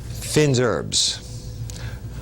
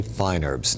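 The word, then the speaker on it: fines herbes: The correct way to say it is, or classically, Finn's herbs. But we always say fine herbs.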